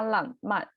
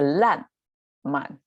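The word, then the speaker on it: 烂漫: I noticed I mispronounced 浪漫. Actually, it's a 烂漫. It's a little bit difficult. Both of them stop as an, not ang, which is more deep in the back sound. It's a 烂, not 浪.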